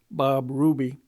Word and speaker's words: Bois Brûlés: the river of mud, Bois Brûlés, burnt wood, pronounced by the Americans Bob Ruby, Côte Saint Dessein, which you may translate for yourself.